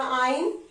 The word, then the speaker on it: yne: Triple bond को लिखते हैं YNE, तो 2 आइन लिखेंगे, उसको प्रोनाउंसिएशन होता है उसका आइन।